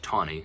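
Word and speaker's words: Taney: a man named Roger tawny spelled ta in he WA but pronounced tawny like there's a W in there there's not but Roger tawny was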